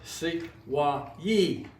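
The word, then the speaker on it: Sequoyah: Sequoia, for example, according to Mooney, it was pronounced Sequoyee, but it became Sequoia over the years.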